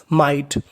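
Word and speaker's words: might: attempt M आई जीएसटी माइट जीएसटी को हम लोग पढ़ते हैं ट तो मीनिंग बनी माइट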